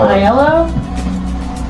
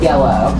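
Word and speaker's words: IELLO: game this is from iell is that how you say that uh I usually pronounce it like the color like yellow yellow okay um it's from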